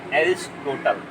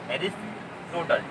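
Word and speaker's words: Aristotle: English में बोलते हैं एरिस्टोटल। ठीक है, आंसर क्या है इसका, इंग्लिश में हम इनकी नाम लिखते हैं एरिस्टोटल, इंग्लिश में पढ़ते हैं, इसका उच्चारण जो होता है एरिस, ARIS, एरिस्टोटल, TOTLE। अब हिंदी में यही नाम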